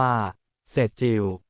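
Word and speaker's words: Sejjil: บท นำ ขีปนาวุธ เซจิล สจิล หรือ อ่าน ว่า เศษจิว ถือ เป็น หนึ่ง ใน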